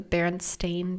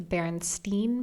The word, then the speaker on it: Berenstain: And everyone thinks it's the Berenstein Bears. Everybody says Berenstein Bears. That sounds more logical. And they spell it with Stein. But in reality, you can look at all the books and the show. It's Berenstain, Stain, Bears.